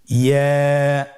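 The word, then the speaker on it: ي: ইয়া হরফটি উচ্চারণ ক্ষেত্রে বারিক হবে এবং এক আলিফ টেনে পড়তে হবে। ইয়া, আবার বলুন ইয়া।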